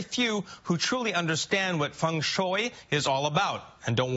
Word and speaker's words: Feng Shui: A lot of people pronounce it Feng Shui, but for my culture, which is Feng Shui. Feng Shui. Yeah, because there are a couple thousand different dialects, so they translate it differently.